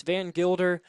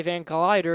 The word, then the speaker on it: Van Gilder: I cannot say his name. They have it misspelled on our sheets. It's Van Gilder, but I keep wanting to say Van Collider because that's how it's spelled on these sheets.